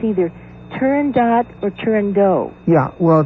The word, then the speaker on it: Turandot: Yeah, it is, in Italian it would be Turandot. So you would say dot? Yeah. And not do? Yeah, although it's often pronounced Turandot.